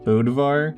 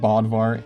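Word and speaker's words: Bödvar: won with bodvar okay turns out it's actually pronounced bodivar that's that's my fault I sorry about that all right moving on from that back in 2017 Remy also played bodvar in the grand finals of bcx's 2v2 tournament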